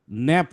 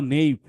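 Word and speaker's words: nap: কেন তুমি নেইপ বললা, এই নেইপটা কি আমরা শিখি নাই? আমরা কি সিবিসি ওয়ার্ড শিখি নাই? তুমি বললা ন্যাপ, মানে তুমি বললা নেইপ, নেইপ কেন, এটা কি ই আছে পিছনে, ই তো নাই। এটা তো ন্যাপ, এটা সিবিসি ওয়ার্ড, এটা একটা সিম্পল একটা শব্দ। ন এ প, ন্যাপ, এটা ন্যাপ, এটা যে কেউ পারে।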